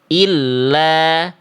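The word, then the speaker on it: إلّا: Dibacanya gini, ila, ila. Kalau ada tasdid, illa, illa, illa.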